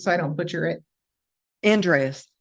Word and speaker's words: Andreas: last name just so i don't butcher it andreas andreas okay andreas yeah i'm excited to have